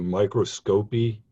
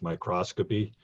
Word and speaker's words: microscopy: just minor grammatical correction you kept referring to microscopy it's usually pronounced microscopy this is something different